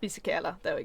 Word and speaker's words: Fisichella: Celeste is going to have to correct my pronunciation here. I think I know who you're gonna Giancarlo Fisichella? Giancarlo Fisichella. Fisichella, there we go.